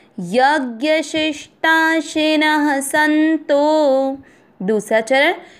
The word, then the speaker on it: यज्ञ: पहला चरण यज्ञ, दोनों अक्षर पूरे, दोनों में अ मिक्स करेंगे। यज्ञ, शी के साथ आधा श षटकोण वाला।